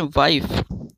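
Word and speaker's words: wife: हो तो लाइक आवश्य आइए ही आएगी लेकिन साइलेंट यानि फॉर मोस्ट हो जाएगा साले देखते हैं सबसे पहली मिसाइल है वाइफ जिसमें वावेल्स में से शुरू में आई आ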